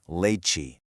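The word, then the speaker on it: leite: comes right after a T creates a cheese sound. So, te becomes chi. Put them together and you get that really nice bouncy leiche.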